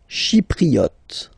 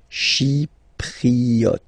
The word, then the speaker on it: Chypriote: Chypriote. She, remember this Y is pronounced like I, okay? Chypriote. Chypriote.